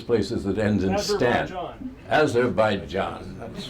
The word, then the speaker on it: Azerbaijan: Soon, Azerbaijan, how do you pronounce it? All those places that end in stan. Azerbaijan, that's right.